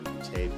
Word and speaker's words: Boutté: Again, you can find me on Instagram as _Boutté, BOUTTE. It is Boutté. If it's not Boutté, you're not saying it right.